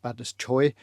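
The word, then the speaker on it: Badacsony: then down a place called badis badao spel badone pronounced badest Choy on Lake Balaton uh and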